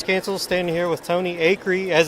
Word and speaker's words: Acree: here with DES canceled standing here with Tony a curry as it's pronounced the family a Creek sometimes referred out